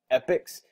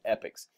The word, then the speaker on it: APPICS: you can go to epics comments APPI CS comm from every video that i've ever watched on this platform it's pronounced epics even though it's got an A in there it's so kind of